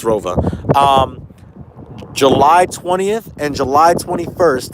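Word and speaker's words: ROWE: I know they're German. That's how they pronounce it. I know it doesn't sound like Rova, but it's Rova.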